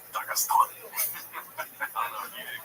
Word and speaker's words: Dagestan: Now, it's actually pronounced Dagestan.